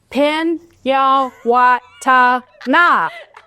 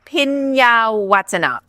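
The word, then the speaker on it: Phinyawatana: Pinyawatana. I love it. That's exactly. The H is silent. Okay, accent on the what? Pinyawatana.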